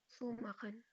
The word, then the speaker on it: zumachen: Pronounce it be zumachen. सू माखन Zu means close कर देना किसी चीज को.